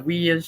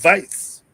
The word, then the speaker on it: Weis: And people call it the Weiss store because it's Weis. Vice. Well, if you pronounce it in German, I think it would be Weiss.